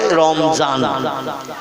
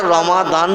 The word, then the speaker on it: রমাদান: মত অবলম্বী বা অন্য মতদর্শের মানুষ ওরা দোয়াত উচ্চারণটা ঠিক মতো করে না। ওরা দোয়াতকে, যেমন রমজান আরবি ভাষায় লেখা, ওরা বলে রমজান, বলে না?